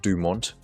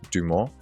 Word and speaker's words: Dumont: And in English AI would pronounce it Dumont, but it should be pronounced Dumont.